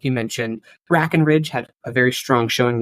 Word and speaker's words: Breckenridge: Breckenridge? No, you said Brackenridge. You got to say Brackenridge. Brackenridge? Brackenridge. Yeah, it's an E.